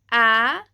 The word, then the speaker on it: ä: And you can think that the ä sounds kind of like the a in cat, cat, cat.